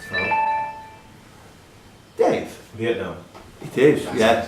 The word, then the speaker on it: pho: Eaten as both a breakfast and dinner meal, the noodle soup pho, pronounced pho.